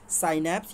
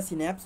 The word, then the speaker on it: synapse: ठीक है, साइनेप्स या सिनेप्स, जो भी आप प्रोनाउंसिएट करना चाहें तो सिनेप्स बोलते हैं.